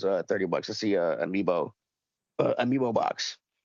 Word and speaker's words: amiibo: Or how do you spell it? Amibo. Amiibo. I called it an amoeba.